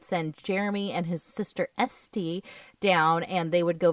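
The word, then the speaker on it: S'te: But Esty is the letter S apostrophe Te. Yeah, it's a unique name, but it is definitely pronounced Esty.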